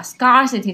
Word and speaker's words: scarcity: 所以这就出现了刚刚这个经济小张问的问题啊，scarcity 它是不是这么读的？